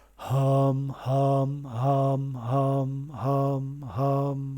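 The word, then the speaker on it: हं: So not, you pronounce it Ham. All right. Hum, hum, hum, hum, hum, hum, hum.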